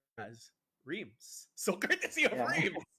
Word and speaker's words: Rheims: They've already had their baptism by fire, courtesy of by what I now know, to be pronounced as Rheims.